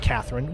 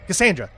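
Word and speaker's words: Kassandra: I It's not Catherine. What is it? It's Cassandra. Cassandra. I said it before anybody told me. I remembered. Like I love Cassandra's character.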